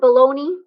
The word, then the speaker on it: bologna: it spelled like that if we call it bologna because it came from this kind of meat came from a town in italy that was named bologna why we pronounce it wrong i don't know but there you go